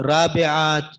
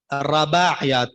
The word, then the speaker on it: رباعیات: جی، رباعیات، رباعیات، رابعات، مختلف سے نام آ رہے ہیں. تو اس کا اصل تلفظ کیا ہے؟ رباعیات. را کے اوپر زبر ہے، رباعیات.